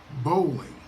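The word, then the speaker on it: bowline: tricky one to pronounce to say it properly unleash your inner hick and say the word bowling did you drop the g bowling if you if so you're pronouncing it perfectly to adjust your knot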